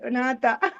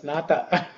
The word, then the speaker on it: Nātha: Yesterday, This is two-syllable word, Nātha. only 2 syllables, Nātha.